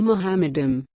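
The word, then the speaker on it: מחמדים: If someone asks a Jewish rabbi how the word is pronounced, he will say Mohammedim.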